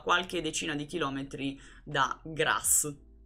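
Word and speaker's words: Graz: decina di chilometri da grasso che si pronuncia proprio così grasso come Alla faccia du cazzo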